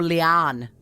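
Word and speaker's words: Liane: I don't know how much of a bookworm either of you are, but Leanne Moriarty, or Leanne is how you pronounce her name.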